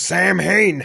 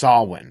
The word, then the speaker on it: Samhain: now wait a second that says Sam Hayne no that's what it looks like phonetically but it's actually a Gaelic word that is pronounced solyn Okay cool so I